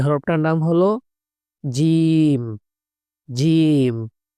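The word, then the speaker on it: جيم: জিম। শক্ত করে জিব্বার মধ্যখান থেকে উচ্চারণ হবে।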